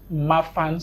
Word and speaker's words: Marfan: You were Pronounce it, please. Marfan syndrome.